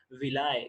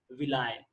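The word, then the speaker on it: villi: जिनको हम बोलते हैं विलाय। क्या बोलते हैं? विलाय। कुछ लोग इसको विली भी बोलते हैं, मगर इसका एक्चुअल प्रोनाउंसिएशन क्या है? विलाय।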